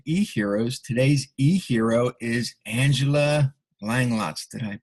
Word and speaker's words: Langlotz: Today's eHero is Angela Langlotz. Did I pronounce that right?